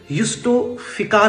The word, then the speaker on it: justifica: पढ़ रहे थे तो इसको इस प्रकार से पढ़ रहे थे यस्टो फिका करके पढ़ रहे थे और अगर